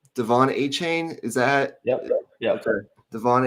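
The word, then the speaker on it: De'Von Achane: Devon A-Chain? Is that? Yep. Okay. Devon A-Chain. I've heard people pronounce it differently.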